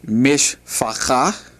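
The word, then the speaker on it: משפחה: The word for family is mishpacha.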